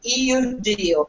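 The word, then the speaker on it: Iudieu: And it is spelled I-U-D-I-E-U, Iudiu.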